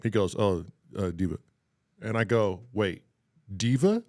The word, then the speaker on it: Deepa: oh, her name is Diva. I guess she's a diva or something. Yeah. I don't. And I was just totally People off. call it, I'll take it. Yeah. Rhymes with Shiva.